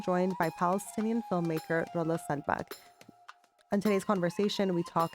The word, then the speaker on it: Selbak: Did I pronounce it correctly? Yeah, Selbak?